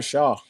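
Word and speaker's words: Shough: Tyler Shaw. Tyler Shaw.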